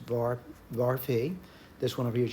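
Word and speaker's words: varphi: This symbol here is pronounced var phi.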